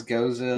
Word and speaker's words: Gose: called goza so and I also I know the pronunciation of it is goza like historically um that's such a weird pronunciation because I have heard people call it a goes um I've heard people